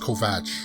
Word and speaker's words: Kovacs: say they pronounce they they're writing it kov a see but I it's pronounced Kovack okay there's a as